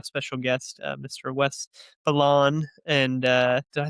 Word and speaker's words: Belon: Wes Balain.